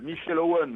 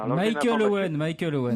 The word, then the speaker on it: Michael Owen: Mais quand Il y avait Michel Owen, l'avant-centre de Manchester. Michael Owen.